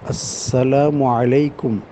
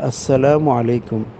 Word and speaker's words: আসসালামু আলাইকুম: মাসনুন তরিকা সালামের মাসনুন তরিকা হলো আসসালামু আলাইকুম আলিফ উচ্চারণ করতে হবে আসসালামু আলাইকুম আরেকটু বাড়াইতে পারেন আসসালামু